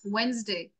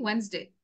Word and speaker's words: Wednesday: আচ্ছা, আরেকটা কথা মনে আসলো, miss Mallika, I think you pronounced it as Wednesday. I mean Wednesday. It should be Wednesday.